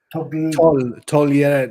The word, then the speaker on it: togliere: Togliere. You don't pronounce the G, do you? No.